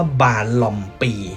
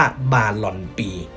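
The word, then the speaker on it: Balompié: ที่ แปล ว่า เท้า แล้ว ทำไม ตัว N ใน ตัว ท้าย ครับ ถึง ต้อง เปลี่ยน จาก ตัว N มา เป็น ตัว M แล้ว ก็ ต้อง ออก เสียง ว่า บารอม ปี แทน ที่ จะ ออก เสียง ว่า บารอน ปี ตรง นี้ ก็ มา จาก หลัก ภาษา สเปน นั่น เอง นะ ครับ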